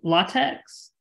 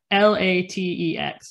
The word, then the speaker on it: LaTeX: It's called LATEX, LaTeX, or LaTeX is I think it's the proper pronunciation.